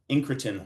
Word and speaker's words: incretin: But essentially, the GLP-1 receptor agonist mimics the natural incretin, which rhymes with insulin, incretin hormone, GLP-1.